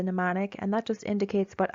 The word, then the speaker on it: mnemonic: the first one is the mnemonic uh the m is silent so it's a mnemonic and that just indicates